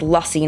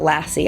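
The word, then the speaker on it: Lucy: mango and lusy and it is pronounced lusy not Lassie I keep messing that one up this one is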